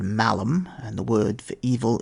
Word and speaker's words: malum: In Latin they are called malum, and the word for evil is malum. There is a slight difference in the way the letter A is pronounced.